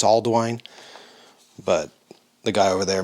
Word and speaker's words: Ealdwine: sort of like it's it's spelled way different but it's sort of spelled or pronounced like Alden but all I've heard I think it's Aldwine but the guy over